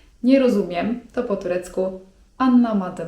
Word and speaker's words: anlamadım: 'Nie rozumiem' to po turecku: anlamadım (czyt. anlamadym) anlamadım (czyt.